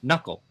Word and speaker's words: knuckle: Knack, nave, knead, knee, kneel, knew, knickers, knife, knight, knit, knob, knock, null, not knowledge, knuckle. Why did we have to put a K in front of any of those words and not say it at all?